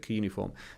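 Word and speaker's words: cuneiform: They developed coform however they pronounce it. I pronounce it kuniform.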